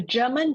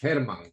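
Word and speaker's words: Germán: uh Costa R A German German sorry I'm not quite sure I don't want to Mis I'm quite sure I mispronounced your name is it's Herman with a open G Herman yeah he's German I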